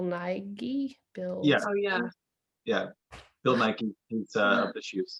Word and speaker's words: Bill Nighy: Bill Nighy, he's of the shoes. Bill Nighy, I believe is the proper. Oh, pronunciation. okay. Yeah, you have to say it. You have to sneeze in the middle.